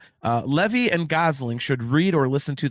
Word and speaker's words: Gosling: some people are kind of questioning the Ryan Goslin uh thing or uh did I just get his name wrong? No, Ryan Gosling.